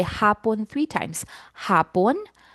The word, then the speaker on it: hapon: Hapon. Hapon. Hapon. Okay. Now I want to emphasize the pronunciation for hapon. So for the first syllable ha you stretch the a hapon.